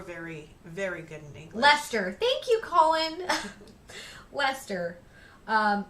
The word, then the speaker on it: Leicester: laughable you were very very good in English Lester thank you Colin Lester um yeah I also